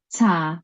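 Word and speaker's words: 茶: And so how does it sound? cha, It is cha.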